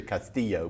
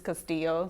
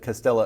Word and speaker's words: Castillo: I always want to do the Castillo, but that's not right, is it? Well, in Spanish it's Castillo, so you could say it both ways. Okay, but Castillo.